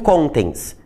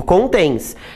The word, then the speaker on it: contém: O tens, eu não digo contens, eu digo contens. Então a sílaba tônica é o tens.